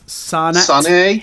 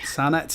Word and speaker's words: Sannhet: So we're going to close out on a band called, I don't know how to pronounce this, Sannhet. Sannhet, it's a Norwegian word.